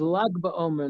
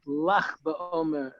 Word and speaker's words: Lag BaOmer: And it is Lag BaOmer, not Lach BaOmer, as South Africans tend to pronounce it.